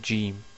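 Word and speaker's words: ج: Nous arrivons maintenant à la prononciation de la lettre Jim.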